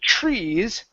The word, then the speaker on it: trees: okay and then with trees the TR don't pronounce a a t pronounce a CH HR Tre trees okay trees trees okay IND